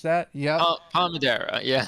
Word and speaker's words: Palmadera: Paul Madera think is that how we would pronounce that yeah pal Madera yes pal Madera so yeah it is a 4.8 uh 4.08